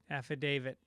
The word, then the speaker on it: affidavit: uh he's right again I do pronounce it as if it ends in a d and it ends with a T I guess it's F affidavit affidavit affidavit he's right though